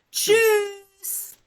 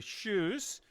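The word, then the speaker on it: Tschüss: shoes.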